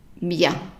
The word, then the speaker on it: bien: So pas trop bien. Bien. So remember we said the EN is pronounced as an en in comment, but if it is preceded by an I, then it's pronounced bien.